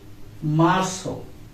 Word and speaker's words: Marzo: Then Marzo. Marzo means Mars. Marzo. M-A-R-Z-O. Marzo, not Marzo, because this letter name is Zeta and it will be pronounced like so.